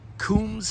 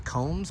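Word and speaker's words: Coombs: The Kums family, C-O-O-M-B-S, or Combs, but I think it's pronounced Kums.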